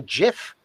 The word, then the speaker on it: GIF: even if he is he used to call it a jiff the actual inventor called